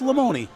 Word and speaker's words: Lamoni: It's not Lamoni, it's Lamoni.